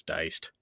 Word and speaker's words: Die'ced: free that's right um it's spelled D I E apostrophe C D um yeah so uh I'm pretty sure it was diced but um anyway if